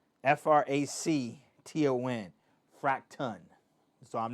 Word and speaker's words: Fracton: So it's Fracton, fracton. So I'm not mispronouncing fractions.